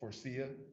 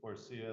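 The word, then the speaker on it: Faurecia: Forcia. Forcia, the It's- big manufacturer in Saline. How do you spell that?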